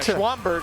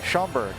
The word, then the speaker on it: Schaumburg: you know pronouncing things so it's like schwannberg i believe is where uh belong gaming arena currently is i see schaumburg nice you learn something new every day and thanks to